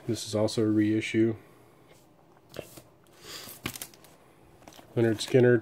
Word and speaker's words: Lynyrd Skynyrd: is also a reissue leonard skinner pronounced Lynyrd Skynyrd Street survivors without the